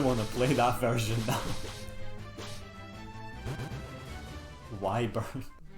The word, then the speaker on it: wyvern: to play that version why burn like i always called wyvern slytherins because that feels better to me but i know why burns the correct pronunciation but why burn like